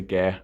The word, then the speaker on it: Gair: I'm going to say Gair. I was going to pronounce it like the announcer at the last one, but I'll let you off for that.